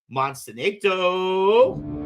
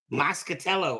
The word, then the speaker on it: Moscatello: Jim Monsento. Moscatello. I said I don't know what I said. I said masinado.